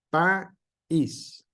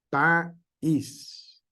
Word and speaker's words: país: Si no llevara acento, dijera país. Y se pudiera pronunciar en una sola sílaba todo. Pero nosotros hacemos esa pequeña pausa ahí porque es la pronunciación correcta y le damos el énfasis a la segunda vocal, que es una vocal débil.